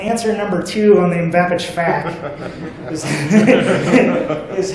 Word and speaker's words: MVAPICH: So of course there's like MVAPICH, right, which is the way I tend to say it. There's MVAPICH. Some people just see a mix of letters there and just give up and try to spell it out, right, letter by letter, MVAPICH, right?